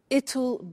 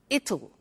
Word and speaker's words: it'll: difficult I said tomorrow it'll be cold you notice how it will becomes it'll it'll strange pronunciation yes